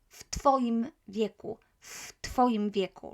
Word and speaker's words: w twoim wieku: age, w twoim wieku, as t is unvoiced, v is voiced, the v will become f, w twoim wieku, right? So this is how we pronounce it.